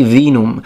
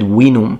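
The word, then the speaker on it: vinum: like at the time the romans didn't say veenum they said winnum and that's why it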